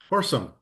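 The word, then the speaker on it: Horsham: Horsesome. I think that's how you say it.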